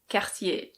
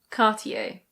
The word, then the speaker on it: Cartier: In French this is pronounced Cartier. Cartier. In British English we say Cartier. Cartier. In American English it's Cartier. Cartier.